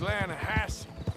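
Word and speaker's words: Lannahechee: it runs right near here yeah but it's pronounced laying a hassle why is everything in English said differently than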